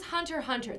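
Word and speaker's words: Hunter × Hunter: So this was Hunter Hunter. The X is actually not pronounced.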